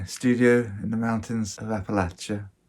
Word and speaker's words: Appalachia: in the mountains of Appalachia that's how it's pronounced here by the way not Appalachia Appalachia and it's Christmas Eve